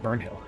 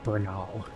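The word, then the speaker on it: Bernahl: uh we can meet burnhill no it's Bernal CU everybody in this game pronounces their name differently than how it's spelled we can meet Vernal he might have that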